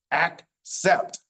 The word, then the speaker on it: accept: So this word, it's the hard C, ac, and then the soft C, sept, accept.